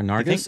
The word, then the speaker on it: Nargis: And I bet I'm not pronouncing that name correctly. I think you are. Nargis.